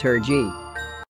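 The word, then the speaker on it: Hergé: name or g itself comes from the french pronunciation of his real initials remy george's is r g which is pronounced her g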